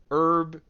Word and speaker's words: herb: The laws of the universe have made it clear that herb does not have a pronounced H.